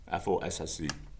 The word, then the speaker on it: fosse: No, fosse, F-O-S-S-E, pronounced fosse.